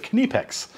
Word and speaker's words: Knipex: plier set made by kinnipex now i hear this name said twenty thousand different ways so write down below how you pronounce it but seeing how it's german we're gonna pronounce it kanepex these are basically a